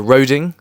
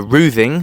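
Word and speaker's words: Roding: I began my day on the banks of the river Roing or the river Ruing as it's pronounced in the old Essex dialect because back in Saxon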